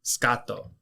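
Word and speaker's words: スカート: the Japanese word for skirt and skirt is scato scato is spelled s u k a t o that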